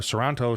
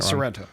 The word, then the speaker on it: Sorrento: scary thought especially what what serrano you know toronto toronto i wish you would stop calling me that i'm probably saying sorrento sorrento jeez i said it wrong a few